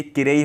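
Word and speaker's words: きれい: तो जैसे मैंने बताया किरेई स्पेशल है। ना केयोशी के अंदर दो वर्ड ऐसे हैं जो आपको स्पेशल हैं, क्योंकि इनके पीछे जो सेंस आ रहा है ना, जो प्रोनाउंसिएशन आ रहा है वो ई केयोशी वाला आ रहा है, लेकिन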